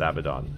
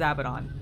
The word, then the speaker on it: Abaddon: to be pronounced uh it's abaddon it is abaddon but there's another way that people say it target acquired i know